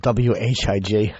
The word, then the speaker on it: Whig: I just like it because it's spelled W-H-I-G. I like that silent H. Throws everyone. Whig.